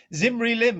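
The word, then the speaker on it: Zimri-Lim: Zimri Lim is pronounced Zimri Lim, and he married a princess from the kingdom of Yamad.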